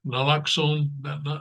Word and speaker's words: naloxone: She gave him 4 treatments of how do you pronounce that? Naloxone, naloxone, slapped him and pounded on his chest, anything to revive him.